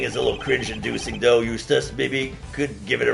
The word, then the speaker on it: Eustace: Yeah, his name is Eustace. That rhymes with useless.